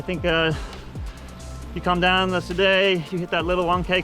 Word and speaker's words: Soudet: But yeah, this one, they just threw this one in to keep it hard, because We could have gone straight from the Soudet, that's how you say it, straight to Marie Blanque, and it would have just been flat in between.